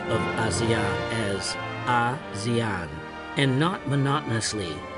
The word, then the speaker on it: ASEAN: the name ASEAN, as the pronunciation of ASEAN is close to Asian of the idea to name it ASEAN, and who advised on the pronunciations of ASEAN as ASEAN and not monotonously ASEAN was Adam Malik, the foreign minister of Indonesia.